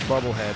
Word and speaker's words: Bubblehead: It's pronounced bubblehead, as in submarine.